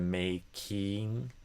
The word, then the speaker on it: making: So instead of making, I think I would say making. And the stress goes on the make syllable, not the king.